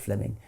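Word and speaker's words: Fleeming: Jenkin was simply it's written Fleming but is pronounced Fleming um Fleming Jenkin was simply saying manifest facts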